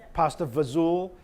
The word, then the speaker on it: pasta fazool: the third one that's I would call that like pigeon Italian so that's now and